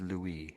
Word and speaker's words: Louis: Paris, then it's I'm just saying it the French way. I'm being sort of polite. I'm being trying to be trying to be polite anyway. Probably failing. So it's Louie. I would say Lou.